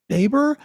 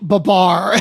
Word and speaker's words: Babar: He says, Baber? Babar. It's pronounced Babar.